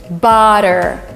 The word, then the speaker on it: butter: When you have double T, it is substituted by D, and it's again called elision. Butter, not butter.